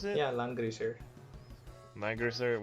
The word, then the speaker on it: Langrisser: Is that how you pronounce it? Yeah, Langrisser.